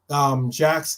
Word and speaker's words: Jax: I think there are two supporter bars in LA, but Jack's is and it's spelled Jax. Jack's is the boozer bar I go to in LA.